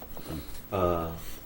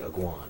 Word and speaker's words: Aguon: Aguon. A lot of people pronounce it Aguan, but that's not how we pronounce it where we're from.